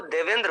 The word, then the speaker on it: देवेंद्र: देवेंद्र लाल, देखियो जैसे शुद्ध शब्द इसका उच्चारण करें तो देवेंद्र पढ़ेंगे, लेकिन गांव में लोग देवेंद्र को क्या बोलते हैं, देविंदर, है ना।